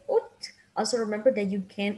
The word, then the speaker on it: août: We write all these letters, but we only say Août.